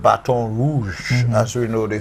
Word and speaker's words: Baton Rouge: the place was called Baton Rouge. As we know, they say, the Americans say Baton Rouge, but we know it's Baton Rouge, as in a red stick.